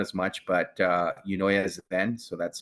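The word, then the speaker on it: Eunoia Zen: Not as much, but Unoya Zen. So that's spelled EUNOIAZEN.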